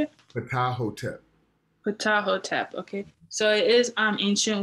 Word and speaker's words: Ptahhotep: Ptahhotep.